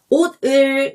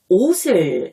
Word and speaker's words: 옷을: 받침 뒤에 모음이 있으면 이 받침과 모음을 결합해서 발음하는 것을 말해요. 예를 들어 옷을 입어요. 자, 이 문장을 읽을 때 옷을 이라고 발음하지 않고 옷을 이라고 발음하고 입어요 라고 읽지 않고 입어요 라고 발음하는 거예요.